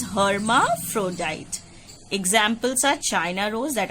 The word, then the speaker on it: hermaphrodite: You pronounce it as hermaphrodite.